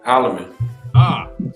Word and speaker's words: Holleman: I'm sorry, I said Holloman. It's Holman. My bad. Holloman. It's Holloman. Oh, it is Holloman. So wait, is it Holman or Holloman? Holloman. Shoot, I've been saying your name wrong this whole time.